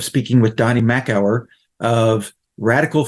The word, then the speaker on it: RDCL: In this episode, I had the pleasure of speaking with Donny Makower of Radical Foods, and that's spelled RDCL Foods, about superfoods.